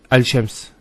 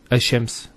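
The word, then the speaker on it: الشمس: However, with lam and the sheen, the lam is here and the sheen is right next to it. Al-Shams. Al-Shams. It's actually hard on the tongue to say.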